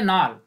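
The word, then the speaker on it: Knoll: N order palazzo है तो किस जो है यह साइलेंट है इसको हम प्रनंसीएशन करेंगे नाल नाल और रास्ता दोनों ने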